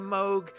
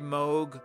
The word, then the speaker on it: Moog: and on the name Moog I attended a talk by Robert Moog years ago and he actually uh did discuss his name he said it can be pronounced either way Moog or Moog and he said half